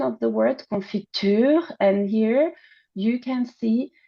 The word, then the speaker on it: confiture: pronunciation of the word confiture and here you can see the longer like the long uh vowel and the longer duration of the final syllable which is uh nuclear stress here right in the example